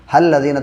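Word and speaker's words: الَّذِينَ: हल्लज़ीना, तो ये लाम से ना हा को मिलाएंगे इससे, और ये अलिफ है, ये साइलेंट है।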